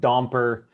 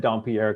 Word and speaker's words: Dompier: yeah so growing up a lot of teachers just butchered my last name pronounced it domper and a bunch of stuff like that yes that's terrible it's terri it hurt but you know growing up we just we just said don pierre because it was just